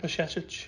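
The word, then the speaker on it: Bajčetić: Pashetic. There you go. That's how you pronounce it. So just put a sh in the middle of it.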